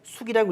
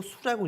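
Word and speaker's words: 宿: 천발 살기 하면 이성이 이수하고 자 우리가 잠잘 숙할 때 어 숙자는 별로 얘기할 때는 숙이라고 읽지 않고 수라고 읽습니다.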